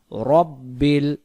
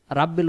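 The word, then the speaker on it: رَبِّ: এখানে উচ্চারণ হবে আলহামদু আলহামদু আলহামদু আলহামদু লিল্লাহি রব্বিল রাব্বিল উচ্চারণ হবে না উচ্চারণ হবে রব্বিল রব্বিল আলামিন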